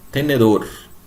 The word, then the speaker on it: tenedor: Por exemplo, tem aí, ó, tenedor. Então, a sílaba tônica é essa última, dor.